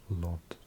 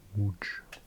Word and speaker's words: Łódź: I think people would pronounce that Łódź. But it's actually a Łódź.